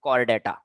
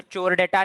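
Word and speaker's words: Chordata: फिर से बच्चों सी एच आ रहा है, तो चोरडेटा नहीं बुलाएंगे अपन लोग, इसको के समान प्रोनाउंस करेंगे, कॉर्डेटा बुलाएंगे, ठीक है। सो नो चोर चोरडेटा, कॉर्डेटा, ठीक है।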